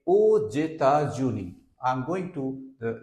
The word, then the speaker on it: aux États-Unis: This is pronounced like États-Unis, and here with AUX if you pronounce, so its pronunciation will be je vais aux États-Unis.